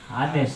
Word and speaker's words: honest: H Ba't letter a honest honest silent h yan tama honest bakit siya